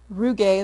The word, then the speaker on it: rugae: the stomach we have these were called rugae rugae that's the pronunciation although apparently it's pronounced a hundred different